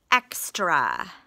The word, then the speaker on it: extra: We have X as a closed syllable. Tra. That is an open syllable because it ends in a vowel, but it's an exception. The A is making the sound, so it's a schwa, and we would expect that to be an A because it's the end of a syllable. Extra.